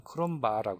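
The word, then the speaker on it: Cronbach: 크롬바 그라는이 뭐 독일 사람이 마크라고 발음하는데 영어식 발음은 크롬바 해요 크롬바 그래서 크롬바 알파 알파라는 계수로 제한을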